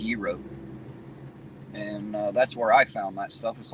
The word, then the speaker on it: gyro: hillbilly you'll call them gyro shops even though that's not how it's pronounced but that is kind of how it's spelled but it's actually pronounced Euro and that's where I